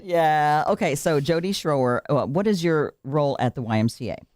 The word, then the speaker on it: Schroer: talking first with Jody Scher rhymes with flamethrower that's what your husband said that's right yeah okay so Jody Scher what is your role